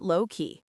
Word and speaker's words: lowkey: Just keeping it lowkey. Excellent. How did that feel? Notice how the words flow together. Lowkey. The stress is on the word low.